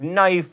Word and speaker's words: knife: Aphthongs are silent letters in words like knife, or fight, or Django.